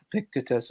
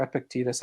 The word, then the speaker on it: Epictetus: And someone will say, well, Epictetus was a Epictetus or Epictetus, however you want to pronounce it.